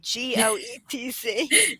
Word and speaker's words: Goetz: And Goetz is spelt that funny way, Goetz. Don't say the O.